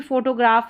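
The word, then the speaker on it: photograph: यहाँ पर देखिए, जैसे फोटोग्राफ है, बड़ी स्पेलिंग है फोटोग्राफ, फ साउंड के लिए हम पीएच को लिखेंगे या पीएच को फ पढ़ेंगे।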